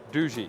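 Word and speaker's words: Doogee: Do how do you pronounce it? Dooji. Dooji.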